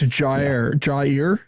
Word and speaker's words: Jair: It's Jair. We got a pronunciation guide. It's just two words. Okay. Jair.